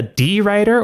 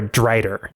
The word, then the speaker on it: drider: Carnassus, that spider elf creature that has the magic lantern, is that pronounced a D-rider or a drider? A drider. A drider. Because I just saw D-rider the whole time.